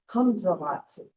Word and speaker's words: Hamzalatsi: All right, our Kwakwala word of the week is Hamzalatsi. And I'm going to help you pronounce it. It's the first syllable is hum, that's easy.